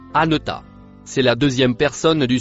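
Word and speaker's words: أنت: Le mot en couleur verte se prononce anota.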